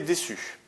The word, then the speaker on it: déçu: Alors, par défaut, le C devant le U se prononce durement, se prononce que, c'est-à-dire avec un U, ça fait Q. Mais là, on veut que ça fasse SU, donc on rajoute une cédille.